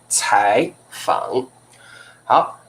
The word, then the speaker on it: 采访: like Tai second tone although you see it like third tone but now we pronounce it with second tone 采访好采访什么叫采访 very easy采访就是interview together